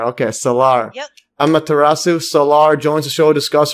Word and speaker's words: Amaterasu Solar: Yeah, did I pronounce it correctly? Let's try it again. Amaterasu Solar. Oh, Amaterasu Solar. Okay, Solar. Yep. Amaterasu Solar joins the show to discuss her father's work